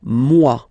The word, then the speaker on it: moi: So remember this OE combination give you the sound wa wa wa, moi.